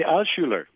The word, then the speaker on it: Altshuler: Dr. Abraham, help me out there. It's the Altshuler. Go one more time.